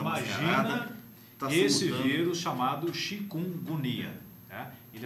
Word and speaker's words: Chikungunya: O nome dele é quase impronunciável para nós. Chikungunya. Tá. O mnemônio para gravá-lo é agonia. Chikungunya.